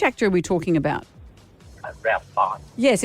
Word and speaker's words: Ralph Fiennes: Ralph Fiennes. Yes, it's written Ralph, but it's pronounced Rafe Fiennes.